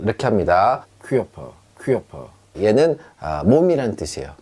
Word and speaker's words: Körper: Körper 얘는 몸이란 뜻이에요. 몸. 자, 다시 한번 읽어보겠습니다. Möbel 얘는요 Körper 이렇게 읽습니다.